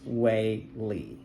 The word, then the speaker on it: Wei Li: And my name is Wei Li, spells as W-E-I as first name, L-I is last name, and pronounced as Wei Li.